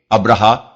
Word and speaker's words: ابرہہ: مورخین ابراہام لکھتے ہیں۔ ابرہا غالباً اسی کا حبشی تلفظ ہے کیونکہ عربی میں تو اس کا تلفظ ابراہیم ہے۔ یہ شخص رفتہ رفتہ